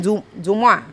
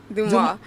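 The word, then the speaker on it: Dumas: It's spelled D U M A S but we getting Duma. Duma. Like Alexander Duma. The Duma. You like I'm adding a Y to Duma.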